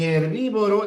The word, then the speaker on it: herbívoro: En herbívoro, la H no cuenta. La transpción sería así. Herbívoro y en muy cuando la y vale la parte final vale como una vocal.